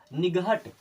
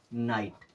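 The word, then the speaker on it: night: एचटी क्या पढ़ेंगे इसे निगत क्या पढ़ेंगे निगाह नहीं जी और एच बीच में आया मतलब खत्म बीच में आकर खत्म अब एन आईजीएसटी को हम क्या पढ़ेंगे नाइट क्या पढ़ेंगे नाइट नाइट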